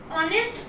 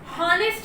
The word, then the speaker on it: honest: ऑनेस्ट में हम देखेंगे यहाँ पे एच की साउंड साइलेंट है और हिंदी प्रोनाउंसिएशन मात्रा से स्टार्ट हो रहा है। यहाँ पे हम ऑनेस्ट को ऑनेस्ट पढ़ते हैं, ठीक है, हॉनेस्ट नहीं पढ़ते हैं।